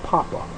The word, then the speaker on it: papa: your people Pope okay Pope actually would have been pronounced Papa so when Biggie Small